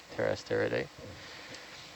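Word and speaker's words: Pterasteridae: slime star or family terraced era day with a like a silent p pt er terrasteraday and uh the genus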